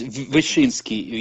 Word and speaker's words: Wyszyński: Yes, Wyszyński.